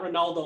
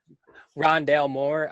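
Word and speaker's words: Rondale Moore: his name correctly um ron dale moore yeah did i get ron dalmore yeah not ronaldo like i think he called him earlier yeah ron dale moore uh we kind of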